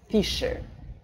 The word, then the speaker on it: fissure: И еще есть фиссура, да, fissure. Я произношу через «ш», это мое личное предпочтение.